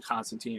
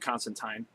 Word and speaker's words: Constantine: I call him Constantine and Constantine, kind of alternate between the two. Of course, he says in his comic to pronounce it Constantine.